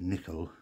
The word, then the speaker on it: Nicoll: Although I believe it's pronounced Nicoll, because he was from Scotland, a place called Perthshire, and they would say, Dr. Maurice Nicoll, N-I-C-O-L-L, Nicoll, Maurice Nicoll.